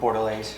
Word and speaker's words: Bordelaise: How do you pronounce the sauce? Bordelaise.